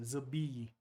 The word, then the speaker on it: Zilby: The E is supposed to be hard. So Zilby.